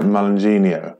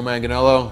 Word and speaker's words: Manganiello: is unreal in arrow is that joe uh malenginio yeah i've definitely said his second name wrong apologies anyone's offended that's okay just i've